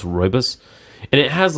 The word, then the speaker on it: rooibos: us I think it but is pronounced rooibos and it has like